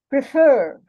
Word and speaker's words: prefer: Prefer. The fur is stressed.